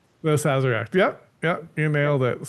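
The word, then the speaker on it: Sazerac: The Zazzarak. The Zazzarak.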